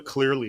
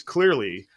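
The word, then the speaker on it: Cleerly: it of it is unstable that's called a clearly score uh spelled with two e clearly CLE e RL y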